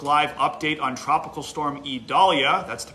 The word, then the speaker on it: Idalia: I'm meteorologist Joseph Neubauer doing a Facebook Live update on Tropical Storm Idalia. That's the pronunciation on our latest named storm off the Yucatan Peninsula.